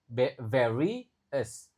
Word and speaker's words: various: Jadi o u s hampir selalu dibaca s. Jadi various a-nya dibaca e lalu vary us. Ingat pengucapan v harus bagus. If students various communication styles if student